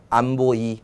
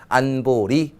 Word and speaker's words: 안보리: 자, 이거 어떻게 줄여서 읽을까요? 안보이. 좀 이상하죠? 안보리라고 읽으면 됩니다. 안보리. 이렇게 읽으면 되고요.